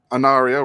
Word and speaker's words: Anaria: off by doing something simple for you guys anaria right am I pronouncing that right finally got it finally well